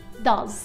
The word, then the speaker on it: does: آخر الكلمة، يعني كلمة do تحولت إلى does، وبننطق حرف ال s بالآخر كصوت z مش كصوت s does.